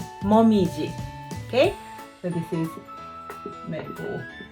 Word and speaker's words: 紅葉: country as Maple Leaves we read it as Mom easy Momiji okay so this is